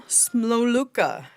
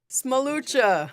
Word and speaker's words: Smolucha: And our final one is Smoluka. Did I say that right? Close enough? How do you say it? Smolucha.